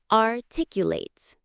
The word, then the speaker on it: articulate: Word number 5, articulate. Let's practice the sound of this beautiful word. Late. 4 syllables. Late. The stress is on the second syllable. Articulate. Let's try it slowly. Articulate.